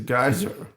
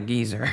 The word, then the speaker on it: geyser: It's a geyser. It's a geyser, not a geezer.